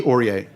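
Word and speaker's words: Ouriet: Elie Auriet.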